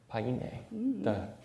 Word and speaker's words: Payne: Payne, the way you pronounce it.